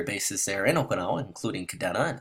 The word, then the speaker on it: Kadena: there in Oklahoma including Kadena and it's pronounced Kadena and Japanese and a lot of you correct me on that but the local dialect is Kadena I understand great now JTWC kind